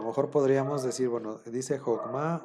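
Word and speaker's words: חכמה: nosotros a lo mejor podríamos decir, bueno, dice Jokma o dice Jakema. Nosotros, como nos enseñaron que la mayoría de las veces se pronuncia como A, pues a lo mejor caeríamos en la tentación de decir Jakema, ¿no?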